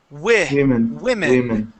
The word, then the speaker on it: women: But we actually pronounce it like this. We say women.